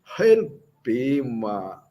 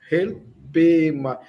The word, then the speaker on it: helpema: Preste atenção na pronúncia do H. Levemente aspirado. Helpema. Helpema.